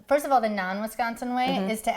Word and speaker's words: Wisconsin: from yeah I'm from I grew up on Wisconsin's Danson okay is it really true that there's